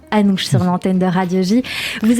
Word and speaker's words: Anouch: prononce alors à nous j'avais un doute parce que ça se prononce aussi Anouk mais donc ce sera Anouch sur l'antenne de radiologie